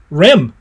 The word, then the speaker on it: REM: the way I am if you can say it like a word it's an acronym and you can say this like a word here's the answer the answer is REM REM sleep REM REM